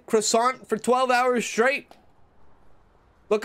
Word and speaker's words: croissant: you give me a croissant there's a t but you don't pronounce it then they should just